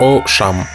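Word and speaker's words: Auchan: chimes дословно высокие поля по-французски произносится как о шам первоначально была зарегистрирована в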